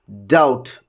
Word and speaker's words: doubt: So if B is there before letter T, then it is not pronounced. If you just look at here, friends, doubt, doubtful, certain, dead.